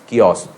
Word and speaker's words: chaos: CHAOS, spelling तो चाउस होती है, लेकिन उसे बोलते क्या है? कियोस।